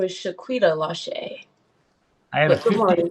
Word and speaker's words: Lache: First on my screen is, it looks like Shakita, is it pronounced Lache? Yep, first name is Shaquita Lache.